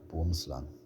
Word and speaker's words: boomslang: In Afrikaans, the name is pronounced boomslang.